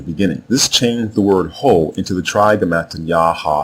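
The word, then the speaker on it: הוא: The word Ho is a third person masculine singular pronoun, which means he in English, but it is written here in the short form. The complete or long form is spelled Ha, Wa, and Ah, and the terminal letter Ah is silent because this is a masculine word.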